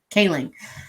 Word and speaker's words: Kaling: I think, and part of my biggest thing, and this is a thing that I have with Mindy Kaling. How do you say her last name? Mindy Kaling.